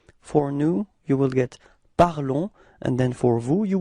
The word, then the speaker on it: parlons: you will get nous parlons. Repeat. Nous parlons. Okay? So keep in mind that final S is not pronounced, okay? So it's only this on, the sound on at the end of this verb, okay?